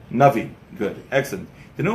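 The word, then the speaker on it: נביא: Navi. Good. Excellent. Do you know what the word Navi actually means? Clever. What? Clever? No. Is it Chachma means clever, but what does the word Navi mean?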